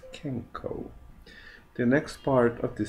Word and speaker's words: 健康: can practice it and remember it's pronounce kenko the next part of